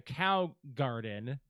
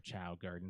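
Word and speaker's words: Chao Garden: of Man, okay, so the Cow Garden, Hmm. that was just, or Chow Garden, sorry. I always pronounce it wrong.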